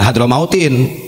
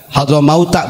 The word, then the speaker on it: Hadramauta: Jangan Hadramautin ya. Nanti salah baca ini. Hadramauta bacanya isim ghair munsharif, ini tarkib majzi, hadrun sama mautun.